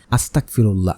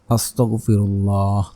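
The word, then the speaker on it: أستغفر الله: আমরা এভাবে পড়বো এস্তেগফার পরে অনেক আমরা ভুলভাবে আস্তাগফিরুল্লাহ আস্তাগফিরুল্লাহ আমরা পড়ি এজন্য এখানে উচ্চারণ বোল হয় আমরা পড়ব আস্তাগফিরুল্লাহ আস্তাগফিরুল্লাহ আস্তাগফিরুল্লাহ এভাবে আপনি এস্তেগফার পড়বেন 100 বার ঘরের লাইটটাকে কিন্তু বন্ধ করে নিবেন।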